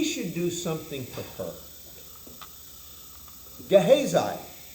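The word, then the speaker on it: Gehazi: Gahhesi or Gahazi probably is the closer pronunciation, but I've said Gahhesi since I was that tall. So, it's going to be Gahhesi. So, Gahhesi his servant is commissioned.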